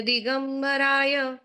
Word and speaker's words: दिगंबराय: प्रशांत रूपाय दिगंबराय देवादिदेवाय नमो जिनाय। उत्तम। हाँ, ज्योत्सना। जीवादितत्व प्रतिपादकाय सम्यक्तमुख्याष्टगुणार्णवाय प्रशान्तरूपाय दिगम्बराय देवाधिदेवाय नमो जिनाय। उत्तम। दिगंबराय दिरस्व है तो रस्व उच्चार कीजिएगा।